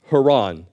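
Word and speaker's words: Haran: person Heron and the name of the place Haron uh it'll help avoid confusion and it's also that's the original way you would pronounce the place Haron so continuing verse 27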